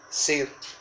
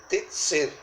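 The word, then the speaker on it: צִיר: Ídolo, hay varias palabras que se traducen como ídolo en hebreo, pero esta palabra ídolo con acento en la I es la palabra hebrea tzir, T-S-I-R, tzir.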